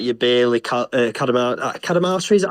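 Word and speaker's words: Bailey Cadamartori: As to the younger players, like your Bailey Cadamartri, is that how you say his name? Yeah, that's it. I'm terrible with pronunciation.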